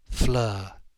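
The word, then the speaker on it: Fleur: in the sharpening light Flur it rhyme with her and she lived at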